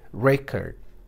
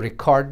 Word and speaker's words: record: Ye hai record. Isko record nahin padenge. Hum record, word wahi hai. But is a noun, you say record. Is a verb, you say record. Ye farak hai.